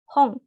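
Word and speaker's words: 本: Nah, ini selanjutnya ada hong. Nah, mungkin sama ya tadi ini kalau en di belakangnya ada di belakang kosakata dibacanya eng. Jadi hong.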